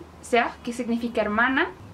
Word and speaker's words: sœur: Entonces, OE se pronuncia como O y podemos encontrar ejemplos de esto en palabras como œuf, œuf, que significa huevo, sœur, sœur, que significa hermana, y cœur, que significa corazón.